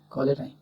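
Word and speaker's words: cholerae: Vibrio কলেরা, CHOLE RAE, নট RAE, কলেরাই।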